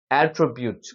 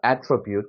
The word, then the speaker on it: attribute: 동사의 뜻 이렇게 있습니다 자 명사일 때는 어디의 강세가 있느냐 자 첫째의 음절의 강세가 있습니다 자가 힘이 들어가면 대표적으로 많이 나는 소리가 에라 그랬죠에 그래서 어떻게 attribute 됩니다 attribute 그리고 여기 보시면 요렇게